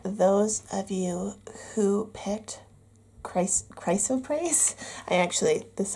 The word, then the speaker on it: chrysoprase: Those of you who picked chrysoprase. This is how you pronounce it.